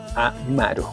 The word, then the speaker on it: amaru: Amaru, que es serpiente, ¿sí? Tal como se pronuncia, es así. Escritura y pronunciación, lo mismo, amaru.